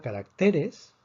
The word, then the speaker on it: caracteres: La palabra caracteres termina en S. Predecimos que la fuerza está en la penúltima sílaba.